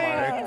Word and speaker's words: Marc: C'est juste, j'ai vraiment fait un R à l'anglais, je fais genre Oui, Marc, tu sais, j'ai fait ouais.